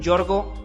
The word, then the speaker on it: Georgius: En esta ocasión me tocó platicar con Yorgo Gotzis. Si lo quieres seguir en redes sociales, lo puedes encontrar en Instagram como @yorgo.gotzis. Yorgo se escribe Georgius.